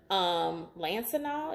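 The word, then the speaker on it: Lansinoh: some really popular ones, Even Flow has one, Lancinol is how you pronounce it.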